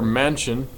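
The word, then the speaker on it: Manchin: a lot of it does we have Senator Mansion I think is how you say his name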